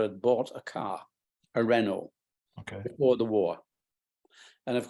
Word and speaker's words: Renault: um Bradley bought a Renault I don't know and in fact we used to call it a Renault because we we didn't know this French pronunciation with a tier band